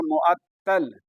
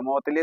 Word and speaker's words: मुअत्तली: अब उसको उच्चारण में उल्टा सीधा मत करिए। वरना वहां सेंटर में मेरा मजाक उड़ा देगा। कौन टीचर से पढ़ के आया? मुतली तोतली मत कर दीजिएगा। मुअत्तल और मुअत्तली।